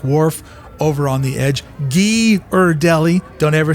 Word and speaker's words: Ghirardelli: Ghirardelli.